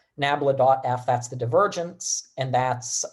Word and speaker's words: nabla: the voltage field and then this thing we pronounce it grad sometimes but its proper name for that little uh triangle there is nabla nabla.f that's the divergence and that's uh like i